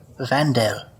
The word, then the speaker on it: Vandal: um call me Vandal vanal vanal yeah vanal yeah so like Vandal but pronounced a little bit more fancily all right you both